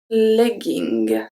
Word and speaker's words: legging: When we have two G in the middle of a word, sometimes it's going to stay as a hard G. Let's see the example and then you will see why.